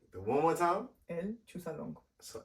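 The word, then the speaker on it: El Chuzalongo: film called, and I keep forgetting how to pronounce it. El Chusalongo. You're right. The one more time? El Chusalongo. So El Chusalongo, right?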